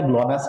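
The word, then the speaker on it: GLONASS: इसका थोड़ा स्पेलिंग देखिए, ग्लॉसनास है या ग्लोनास है, एक बार हल्का क्रॉस चेक कर लीजिए, ग्लोनास बोलते हैं, जापान।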